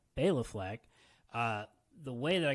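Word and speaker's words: Béla: i actually see and i've always been pronouncing his name wrong because i was pronouncing it bella fleck so that tells you how much i know but bailey fleck uh the way that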